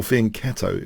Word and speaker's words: fianchetto: this features attacks against the fianchetto or Fein keto if you'd rather pronounce it like that so let's have